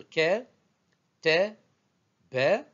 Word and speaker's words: كتب: Pour les trois lettres ke, te, be, je peux me passer des voyelles, fatha, fatha, fatha, et lire ketebe sans voyelles, c'est-à-dire non vocalisé.